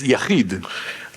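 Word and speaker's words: יחיד: It's pronounced as Yachid.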